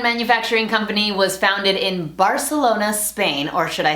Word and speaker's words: Barcelona: This fashion design and manufacturing company was founded in Barcelona, Spain, or should I say Barcelona, and the correct pronunciation is not mango or mongo, it's mango.